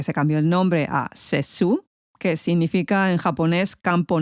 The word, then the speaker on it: Sessue: Y como os he dicho antes, los guiris esto de Sessú te lo pronuncian como yo te diga y al final terminó la cosa en Sessue.